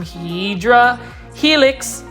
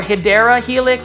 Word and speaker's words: Hedera helix: And obviously we have some Hydra helix or Hedera helix. Somebody was telling me that's how you pronounce it, is a Hedera helix.